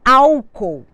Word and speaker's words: álcool: casos um exemplo muito comum é a palavra Álcool al co ou nós temos que separar os